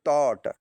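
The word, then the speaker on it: taught: दूसरी मीनिंग है टॉट। इसमें भी जी एच है तो इसमें टी ए यू टी का प्रोनाउंसिएशन तो टॉट हो रहा है लेकिन जी एच का अर्थ साइलेंट है क्योंकि आखिरी में जी एच टी है जहां जी एच और जी एच टी है वहां जी एच का प्रोनाउंसिएशन नहीं होगा अगला देख लीजिए दो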